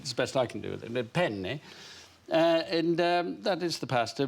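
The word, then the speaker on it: penne: pen they pasta you in italian it's very important that you pronounce a double consonant there are two ends in the word so you say it how do you say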